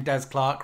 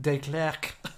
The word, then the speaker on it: Des Clark: I remember someone at our school, when she saw the name Des Clark written down, pronounced it De Clerc, and thought we were writing French.